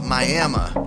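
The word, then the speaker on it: Miami: you yeah hey boss that's pronounced mayama Oklahoma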